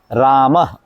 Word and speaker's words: राम: अक्षर का है तो आपने राम कैसे प्रोनाउंस करना है राम रामा नहीं राम रामा जैसे योग का